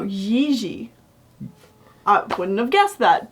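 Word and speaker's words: Jiří: I mean, can you blame us for thinking it's Jiri Trnka? But no, Jiri.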